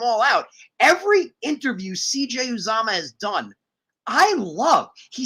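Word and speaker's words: Uzomah: months we now have cj uzuma who cj uzama was sorry was saying it wrong cj uzama isn't even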